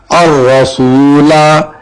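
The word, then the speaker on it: الرسولا: الرسول سورہ احزاب میں ہی ہے الرسول، لیکن اس کو الرسول پڑھا جائے گا، لام کے ساتھ والا الف نہیں پڑھا جائے گا.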